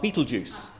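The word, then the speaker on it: Betelgeuse: my um lectures um how to pronounce the name of the star Beetlejuice and it's actually from the Arabic Baal Jaws so I try and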